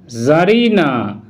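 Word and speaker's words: tzarina: Role eight, কোনো ওয়ার্ডের শুরুতেই টি জেড একসাথে থাকলে তখন কিন্তু ওই টি লেটারটির উচ্চারণ সাইলেন্ট হবে, যেমন জার জার, জ্যাডিক জ্যাডিক, জারা জারা, জারডম জারডম, জারিনা জারিনা, জারিজম জারিজম ইত্যাদি।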